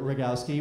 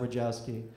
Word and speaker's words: Rogowski: I will end on this then, Mr. Rogowski, which I pronounced correctly, not Rogowski, as everyone else does.